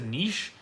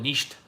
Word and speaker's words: Niš: The name of the place is Niš, and the whole time I just called it Nisht.